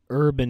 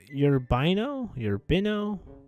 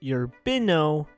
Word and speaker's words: Urbino: I pronounced this totally wrong when I was reading through it. It's if I'm correct, it's pronounced Urbino, I'm gonna say it's Urbino, Italy. I could be completely wrong though, but I know for a fact it's not urban.